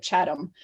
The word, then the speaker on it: Chatham: Chatham, they say it Chatham.